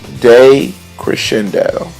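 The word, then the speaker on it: decrescendo: way what's that uh-huh it's day Crescendo that D is pronounced day and that means gradually getting softer cool so we got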